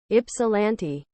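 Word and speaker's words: Ypsilanti: D Quinter lake orian is Lake oon doac ipsilanti graet you're getting them wrong if you're not from Michigan colel pronounced kernel duck I mean duck I hate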